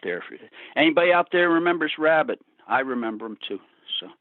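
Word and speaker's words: Wrabit: are you familiar with a band called rabbit spelled with a w w-r-a-b-i-t no they were from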